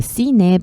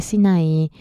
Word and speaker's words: Sinaí: Sí, en coreano se dice Sine, pero es la península de Sinaí, es el monte que está en la península de Sinaí.